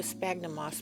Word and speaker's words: sphagnum: So first I scrunch some of the sphagnum moss. We like to call it sphagnum moss because that's how it's spelled, sphagnum.